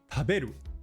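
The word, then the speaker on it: たべる: For example, in our sentence, we say the word taberu. But can you hear where the pitch is? Taberu. It's on the be in the middle.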